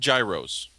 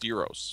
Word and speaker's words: gyro: say yeah and uh yeah they're not called Gyros it's pronounced Euros yeah so we have uh uh we have